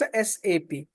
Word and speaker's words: SAP: and again I'm reiterating it's not sap it's a sap so the abbreviation of